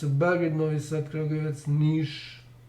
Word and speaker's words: Niš: Belgrade, Novi Sad, Kragujevac, Niš, this S is with V over it, diacritical sign V over it, which is pronounced as Sh in Serbian, and Pristina should also